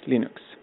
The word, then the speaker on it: Linux: you hello this is Linus Torvalds and I pronounce in Access Linux hello this is Linus Torvalds and I pronounce